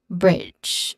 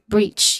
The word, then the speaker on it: breach: So that is bridge. Oh no, breach. Yeah. Next is pronunciation wise there's a short e vowel sound here with ch sound. So you sound like breach.